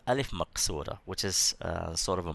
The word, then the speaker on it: Alif Maqsura: You pronounce it, it's elongated. Okay, and this one is called Alif Maqsura, which is sort of a Maddah also, but it's a smaller elongation.